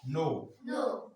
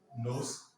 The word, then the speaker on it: nos: S is never pronounced. So what do you do? Mais, say mais. Tes, c'est, nos, vos, leur. So you can't say leurs. You can't say vos. You can't say nos. It's not allowed.